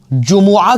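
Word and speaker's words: جمعہ: तो जुमा के दिन जुम्आ के दिन सही जो इसका प्रोनाउंसिएशन है ना वो जुम्आ है।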